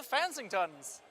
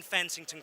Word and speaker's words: Fansingtons: Soapra, Flights of the Fansingtons. Is that correctly pronounced? The whole Fansington, but Flights of Fan. as in flights of fancy, but with a ton.